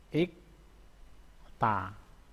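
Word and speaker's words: 읽다: Terus selanjutnya ilekta. Ini R bajim rangkap beda R atau L dan giek L dengan K. Contohnya ikta. Ikta bacanya ya. Ilekta bacanya ikta. Yang dipakai gieknya.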